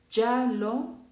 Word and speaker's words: giallo: Después, cuando yo tengo a la letra G con las vocales I y en unión de A o U, los sonidos van a ser igual de la Y. Y voy a poner ya, yo, yu. Ya, yo, yu. ¿Ok? Entonces se pronuncia giallo, giovane, giustizia.